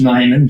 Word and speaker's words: Neiman: And last name is pronounced Neiman, just for okay there.